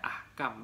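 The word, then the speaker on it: أحكام: jamaknya dia Jamaah itu jamaknya Ahkam bacanya Ahkam bukan ikan jadi bebas Arab memang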